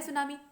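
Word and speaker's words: tsunami: जाता है यह जापानी भाषा का शब्द है सुनामी इसकी स्पेलिंग 30 चेस्ट होती है लेकिन अनशन करते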